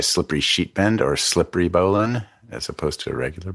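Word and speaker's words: bowline: Um, learn how to tie a slippery sheet bend or slippery bolan as opposed to a regular bolan. Uh, it's pronounced Bolan, not Boline.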